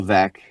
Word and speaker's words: Veeck: Bill Veck, yeah. So his last name is spelled Veeck.